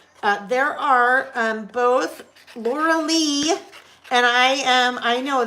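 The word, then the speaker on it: Lorlei: the picture again uh there are um both Laura Lee and I am I know this I know how to pronounce her name and I her name is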